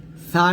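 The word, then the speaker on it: ث: বৈশিষ্ট্যকে সিফাত বলা হয় ছা টাও আমরা জিহ্বার আগা সামনের উপরের দুই দাঁতের আগার সঙ্গে লাগিয়ে ছাটা বাতাস বের করব বাতাস বের করাটা হলো সিফাত বাতাস বের করব পাতলা করে উচ্চারণ করব ছা এরকম ছা উচ্চারণ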